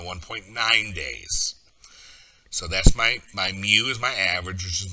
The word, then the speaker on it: mu: And that basic calculation is my x minus my mu, that little cursive u is actually pronounced mu, x minus u divided by sigma.